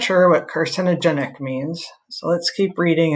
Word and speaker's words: carcinogenic: to have a vowel so car sin i wonder if this goes together okay so i'm gonna think actually i know but breaking it down carcinogenic okay but i'm not